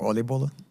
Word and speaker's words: oliebollen: How do you pronounce it? Oliebollen. Yeah, I think oliebollen.